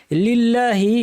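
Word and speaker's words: لِلَّهِ: ঠোটটাকে গোল করতে হবে লিল্লাহি শব্দে লামে জের থাকায় লামটা পাতলা হবে লিল্লাহি হবে লিল্লাহি নয় রব্বি এখানে রটা ভারী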